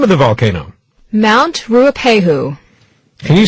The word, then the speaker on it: Ruapehu: Mount Ruapehu. Can you spell that? Sure. It's R-U-A-P-E-H-U.